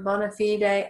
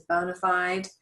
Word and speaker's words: bona fide: And usually when we pronounce it in legal context, we do pronounce it final E. So it becomes the Latin way, bona fide.